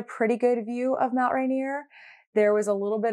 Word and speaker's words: Rainier: It does kind of make sense because it does say rain and then like I-E-R, so Rainier.